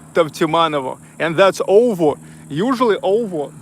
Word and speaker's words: Tavtimanovo: You know that, well, in Russian language, that's U pronounced like V. Tau, Tav, Tavtimanovo.